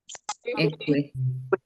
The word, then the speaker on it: Ekwe: It's not ekwe. Ekwe. Vocal inflections and the way you pronounce your syllables, the way you stress your words can means a whole lot when pronouncing words in a language. Because we may have words that have the same spelling, but the only difference could be the stress pattern.